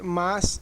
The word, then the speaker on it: mas: nunca vê ninguém escrever mas sem o i, porque a maioria das pessoas escreve errado. E também nunca escuta ninguém falar mas sem o i, nunca escuta ninguém pronunciando a palavra mas corretamente.